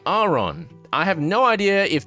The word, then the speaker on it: Aron: the Grubbin, Shinx, and Aron lines. Now, I have forever been calling this Pokemon line the Aron, Laren, and Aron line, but apparently I was wrong. According to the anime, it's actually Aron.